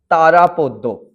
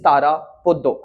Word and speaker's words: Tarapada: However, you all would be pronouncing him as Tarapada, but actually we come from Bengal, and you have to have that taste of Bengali culture, and that is why actual pronunciation of this little boy is Tarapada and not Tarapada.